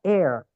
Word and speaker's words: heir: semua atau misalkan teman-teman mendengarkan kata air Nah air itu bisa saja udara bisa saja dia ini teman-teman eh ahli waris tulisannya heir h e e h e i r jadi h i i r itu waris ahli ahli waris gitu nah bacanya sama Nah itu teman-teman supaya